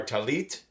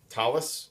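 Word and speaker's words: tallit: This is a instructional video for putting on our talit, talis with a Yiddish influence of the pronunciation, and tefillin, or tefillin as sometimes it's called, again with Yiddish influence on the Hebrew.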